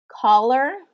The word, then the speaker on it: collar: the same pronunciation and they both follow the short vowel rule so you have the a collar uh the A and the a kind of have that same a pronunciation in this word and the two L's create that buffer to keep it short okay often often is